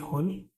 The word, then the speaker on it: whole: Next है HOLE होल मतलब छेद, और WHOLE होल, जहाँ पे W फिर से साइलेंट है।